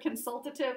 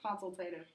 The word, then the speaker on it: consultative: one is consultative uh in the video she sort of said consultative it's usually pronounced consultative this is two-way participation